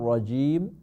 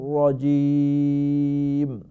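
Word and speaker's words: رجيم: রাজিমের জিমের মধ্যে অনেকেই জিমের উচ্চারণটা শক্ত হয় না, জায়ের মতো হয়ে যায়, রাজিম হয়ে যায়।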